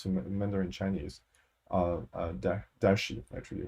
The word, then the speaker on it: DaXi: mandarin chinese uh uh dashi actually if you pronounce it correctly it's pronounced darshi uh large and fine